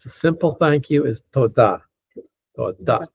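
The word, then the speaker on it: תודה: Just the simple thank you is toda. Toda. Again, it's accented on the last syllable, toda.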